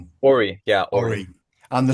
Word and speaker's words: Ori: Can I ask as well, Uh, is with pronunciation, is it Ori? Ori, yeah, Ori.